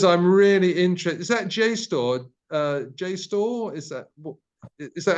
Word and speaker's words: JSTOR: Is that JSTOR? JSTOR? Is that how you pronounce it? Have I got that pronunciation right? Yes, it's JSTOR.